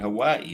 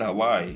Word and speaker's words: Hawaii: That's how you say it. Hawaii, not Hawaii. Hawaii.